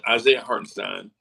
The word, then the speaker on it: Hartenstein: yeah, Isaiah Hartenstein.